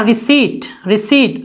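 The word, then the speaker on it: receipt: तो देखिए सी के बाद है इसलिए हम EI लिखेंगे, P साइलेंट है तो पढ़ेंगे रिसीट।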